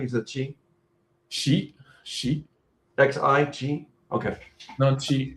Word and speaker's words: Xi: Did I pronounce the name correctly? Is it Xi? Xi. Xi? Xi? Okay. No, Xi. Xi.